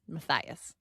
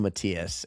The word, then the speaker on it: Matthias: Mhm. Matthias. And I called him Matias and then I got I got their state wrong.